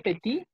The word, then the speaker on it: petit: Pero cuando hablo de la niña, ahora ya suena la T. Elle est petite, agregó la E y ahora la T se pronuncia.